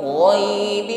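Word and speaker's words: غيب: nafasnya tumma turadduna ilaimil ghaibi G tebalkan pengucapan huruf g ghaibi wasya wasya perhatikan ketika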